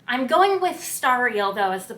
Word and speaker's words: Stariel: pronounced the Lord of stereo just based on how it's spelled I'm going with star real though as the pronunciation based on context it is a reference to stars and that is a